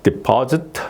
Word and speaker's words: deposit: 이렇게 발음이 되는 거고 그다음에 deposit 여기에 it 있으니까 그 앞에 엑센트가 있다 그래서 이제 deposit 이렇게 예 여기 예 이렇게